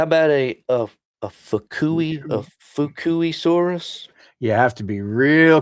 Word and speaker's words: Fukuisaurus: I looked up how to say it, and after it said how to say it, I realized it's kind of like Fubuki.